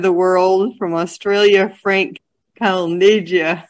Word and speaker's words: Calneggia: world, from Australia, Frank Calneggia. I know, it's a weird name, but never mind. It's my Italian. So that's an Italian pronunciation? It certainly is, yes.